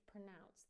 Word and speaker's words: pronounce: A schwa in the first syllable. Pronounce, pronounce, and it rhymes with the second syllable with the word rhymes with announce, right? Announce, announce, pronounce.